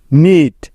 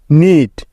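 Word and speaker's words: knit: ও সি K knock নিট কে এন আই টি নিট Neil K N double E এল নীল এখানেও প্রতিটি উদাহরণে এন এর আগে কে আছে তাই এগুলোতে কে সাইলেন্ট বা উজ্জ্ব আছে দেখো এল লেটারটি সাইলেন্ট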